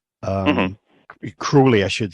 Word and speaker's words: Crowley: and I found books uh mainly um Aleister Crowley um cruelly I should say I bet she'd learn by